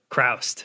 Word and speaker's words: Chroust: I'm sitting here with and your last name is Krast. Crraust. Okay. I was curious about the pronunciation of that.